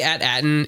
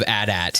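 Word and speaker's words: AT-AT: it reminds me of at at I know and everybody's made that joke right like hey we finally know the correct pronunciation of at at no it's atat guys and to me it's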